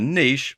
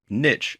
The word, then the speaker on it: niche: To get started and to do the same, you're going to have to choose the niche, or niche as it's sometimes pronounced, that you want to focus on.